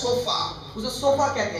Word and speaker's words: shofar: And a trumpet in Israel और Israel में जो तुरही होती थी is called उसे बुलाया जाता है, shofar. उसे सोफा कहते हैं S-H-O-F-A-R. और सोफा का स्पेलिंग बताया गया है, It's called shofar.